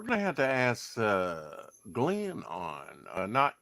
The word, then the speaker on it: Glyn: And I think You I'm know, saying it right Glenn, because his is spelled Glenn, yeah, GLYN. GLN, yeah, Yeah.